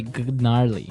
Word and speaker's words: gnarly: It's spelled G N A R L E Y. Okay. So, but you don't say gnarly. No, you say gnarly.